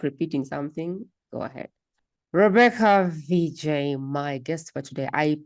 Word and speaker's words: Vijay: for today my guest for today is Rebecca VJ is that how you pronounce the name or do I have it wrong all together yes Rebecca VJ thank you okay my guest today is Rebecca